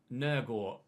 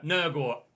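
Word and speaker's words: Nørgaard: come in at cdm i'm trying to get some of the danish pronunciations a little bit better i'd look on forvo and uh it's nergot some similar nurgot is how you pronounce that i think danes let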